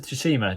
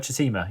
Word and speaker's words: Tsushima: um it's how have you not learned how to say the word shishima yeah tsushima i said that yeah you um the